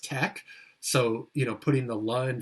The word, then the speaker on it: TeX: LaTeX is kind of a simplified version of a formatting language called TeX, T-E-X, and that's correctly pronounced tech.